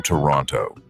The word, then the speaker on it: Toronto: He winces when people pronounce the second T in Toronto.